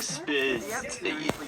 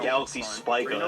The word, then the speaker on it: Galaxy Spica: I don't want to lose monetization, so I quickly googled the name, and apparently it's pronounced Galaxy Spica, and it actually originates from a Latin word.